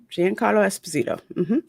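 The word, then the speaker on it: Giancarlo Esposito: Gian Carlo Esposito yes you said it right Gian Carlo Esposito back is Moth Gideon um Mr Miyagi the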